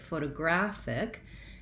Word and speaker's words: photographic: So at any rate, photographic has stress on the gra syllable. And in this case, it does sound like the word graph, which I'll write this way, and that's going to be my long syllable, photographic. But photo, actually I'm incorrect, it is not an O here, it is a schwa, photographic.